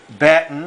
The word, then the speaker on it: Batten: weekend is coming up batten is spelled ba tten like batten down the hatches more information about batten